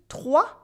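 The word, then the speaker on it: trois: Here, in entre 3 et 4 millions de personnes, you can notice that the S in 3 is silent. Repeat after me. 3, 3, 3.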